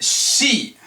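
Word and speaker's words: し: She she is pronounced like the female pronoun.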